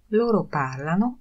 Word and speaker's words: parlano: Loro parlano il tedesco. Oni mówią po niemiecku. Chcę zwrócić uwagę, że akcent w ostatniej osobie, loro, oni, pada na trzecią sylabę od końca.